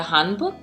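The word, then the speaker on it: 한복: Casey so what is you called it a Han book is that did I pronounce it correctly yeah so a home book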